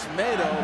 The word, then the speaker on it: Tomato: it the other day everybody been calling this Miro it's tomato like tomato he made it real clear to us that's how you say his name properly well this is